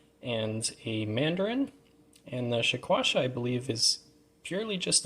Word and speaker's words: Shekwasha: here but also the shaquasha uh this one's pronounced a few different ways but and spelled as well but we'll call chasha for this video so two very unique